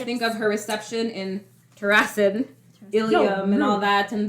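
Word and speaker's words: Terrasen: when they arrived in terason the response from people there Terin I don't know how to pronounce it I agree it's Terin here Terin not terason like Harrison okay yeah because like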